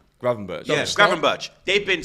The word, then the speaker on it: Gravenberch: of the pronunciation? Starting to. Gravenbach? Gravenberch.